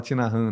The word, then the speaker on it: Thich Nhat Hanh: Hanh, tem um livro do monge vietnamita que o nome dele se escreve Thich Nhat Hanh, e aí se fala Thich Nhat Hanh, né?